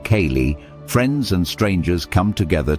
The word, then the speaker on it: ceilidh: At a sy pronounced kayali, friends and strangers come together to dance, laugh, and enjoy traditional tunes.